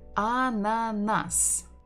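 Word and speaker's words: ананас: Another word that we learned is a ananas. Ananas. Ananas. We stress the final syllable.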